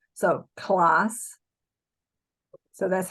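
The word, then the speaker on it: класс: um American C the alphabet Alpha C is pronounced like an S so class and and of course then the K sounds like are RC so and then that little funky thing is an L so class so that's how and my transliteration I'll probably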